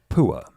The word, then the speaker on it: Pua: P-U-A. It's exactly what you would think it's spelled like. I thought it would be spelled with 2 O's and an A. It's with a U.